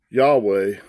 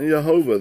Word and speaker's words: Yahweh: what's jesus iso us jesus yahweh not jehovah there's no delay or or jehovah it's taking out those